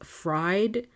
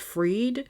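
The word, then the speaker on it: Bankman-Fried: in the Forbes episode I kept saying his name as fried but it's actually pronounced freed so my bad I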